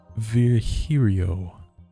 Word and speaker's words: Virgilio: It's pronounced Virgilio. And now I'm pretty sure it's Virgilio.